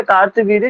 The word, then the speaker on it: कार्तवीर्य: कार्तवीर्य आपको लिखा मिलेगा कहीं-कहीं पे कृतवीर्य भी बोला जाता है उनके नाम को तो कृतवीर्य या कार्तवी जो भी नाम है दोनों सही है दोनों नाम सही है जो भी आप